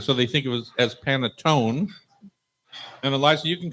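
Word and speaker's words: panettone: they think of as panetone and Eliza you can correct me if I'm wrong but I think it's paneton it's panon the Italians pronounce the last vowel so p a n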